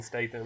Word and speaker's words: Statham: Did I say his name wrong? Jason Statham.